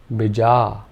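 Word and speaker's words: bīja: would now be pronounced bija. Bija. If we made both the vowel sounds long, this would be said as bija. Bija. And finally, if only the first vowel sound was long, this would be pronounced bija. Bija.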